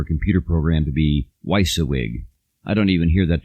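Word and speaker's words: WYSIWYG: big deal for a computer program to be weissa wig I don't even hear that term anymore because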